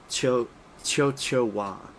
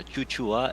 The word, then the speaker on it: Chuchua: uh with Roxy I I always thought that it was cho cho choa that's how I pronounced it yeah it's kind of it's a weird one to pronounce it's um Chuchu yeah chuchua it's from from a it's from an Old Dutch children's song oh okay um